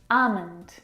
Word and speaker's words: almond: very comfortable this afternoon almond now in this word the L is silent it's not almond or almond it's ah meant I